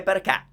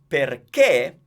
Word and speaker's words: perché: So, since it's pronounced perché, that is the accent that tells me that the E is stressed, but it's closed.